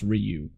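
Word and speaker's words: Riou: Ryu I which I apparently his name is pronounced Ryu it spilled Riu oh it spell it spell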